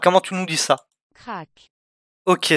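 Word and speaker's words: krach: Crack. Ok, c'est en fait ça s'écrit K-R-A-C-H, mais ça se prononce crack, ok.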